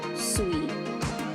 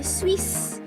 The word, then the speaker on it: suis: If you notice, suis, the S is silent. You don't say Swiss. You say suis.